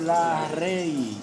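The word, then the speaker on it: Larrey: costal o hendidura de la Rey se escribe Así mismo como se oye con y al final hendidura de la rey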